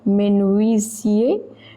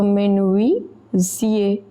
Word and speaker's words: menuisier: Tel que le menuisier. Remember, UI, this combination, it is pronounced as we. So, menuisier. Menuisier.